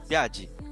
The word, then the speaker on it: Biajee: Am I pronouncing that right, or is it Biajee? Uh, Biajee.